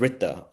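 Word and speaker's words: ऋत: Um, actually in the Rigveda, the oldest Hindu text, the first teaching in the Rigveda is this concept of Rita, it's spelled RTA, which which kind of says that there's a universal balance or order to the world.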